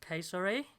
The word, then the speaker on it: Cesare: Should be pronounced Cesare, Cesare.